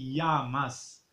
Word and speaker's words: llamas: mismo canal cómo te llamas a los 2 l2 l se pronuncia y ya cómo te llamas